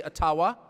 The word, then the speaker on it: Ottawa: taken from you no matter who is in Ottawa or as we say atawa which by the way is the correct pronunciation according to my friends in the AA